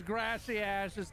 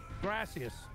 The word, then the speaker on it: gracias: a few questions because grassy asses thank you in Spanish you're mispronouncing it yeah I am mispronouncing it for the sake of the joke gracias but grassy ass you